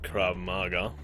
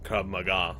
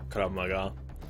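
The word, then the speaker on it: Krav Maga: She's not only really physically fit, she's also really good with crab maga. Krab maga. That's that's how it's pronounced. Krab maga.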